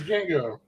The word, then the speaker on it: Django: I can't even pronounce that. It's Django.